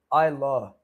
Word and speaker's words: Isa: My name is pronounced I Isa by the way.